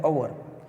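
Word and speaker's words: hour: एन अवर, तो इसमें देखिए पहला शब्द एच है लेकिन उसे बोला जाता है अवर, तो उसका जो प्रोनाउंसिएशन है अ से हुआ तो हम एन लगते हैं, नहीं कि ए।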